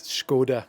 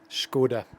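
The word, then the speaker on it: Škoda: I've been invited out here by Scoda, which is how you pronounce it, by the way, if you didn't know. It's Scoda. Skoda.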